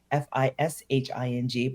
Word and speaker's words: phishing: But it really is kind of like phishing, Fishing, but it's spelled Phising.